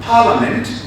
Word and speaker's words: Parliament: You know, the letter I between the A and M, Parliament, is rather silent. So you don't pronounce it as Parliament, it is rather Parliament.